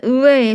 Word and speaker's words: 의: 조사 이 가 왔어요 조사 이 조서는 의 로 발음 해도 되고 이 게 원칙이지만 에 로 발음하는 것도 허용한다는 거죠 그래서 의가 즉 의라는